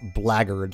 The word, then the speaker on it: blackguard: Blackard I like how blackguard is always pronounced blaggard like BL AGG ard blaggard alright fine that's all